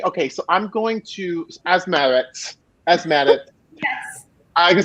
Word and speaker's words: Asmeret: So now, like I make it a point to be like, Asmeret just so that I can like this like.